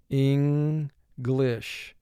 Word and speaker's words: English: speaks english very well english two syllables first syllable in two sounds four sounds mark the word ing glish n is representing its second sound here when the letter n